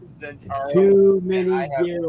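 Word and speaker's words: Zhentarim: One's spelled with an X and one's spelled with a Z, but they start off the same. They sound the same, yeah.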